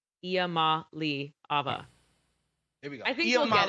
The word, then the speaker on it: Iamaleava: it actually is phonetically spelled right. Iamaleava.